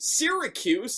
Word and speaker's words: Syracuse: The hang, in case a lot of you guys want to know how it's pronounced, it's actually pronounced Syracuse. So my God.